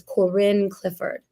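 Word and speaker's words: Corine Clifford: It's Corin Clifford.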